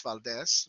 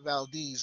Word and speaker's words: Valdez: Now, for those of you who are Spanish speaking, it's Valdez, but they call it Valdez up there. And so I'm going to pronounce it like they do so that there's no confusion.